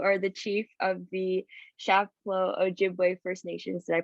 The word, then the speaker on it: Chapleau Ojibwe: And you are the chief of the Chapleau Ojibwe First Nation. Did I pronounce that right?